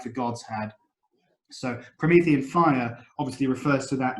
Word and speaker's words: Promethean: I've got again the the adjectives from Prometheus which in English sounds like Promethean so promethium fire what